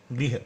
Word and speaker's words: गृह: गृह यानी घर, ये ऋषि की मात्रा है, री की मात्रा होती है, गृह ऐसा बोलते हैं।